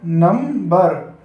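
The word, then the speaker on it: نمبر: नून meme नम बेरे बर, जब हम इन्हें आपस में मिलाएंगे तो क्या पढ़ा जाएगा? नंबर।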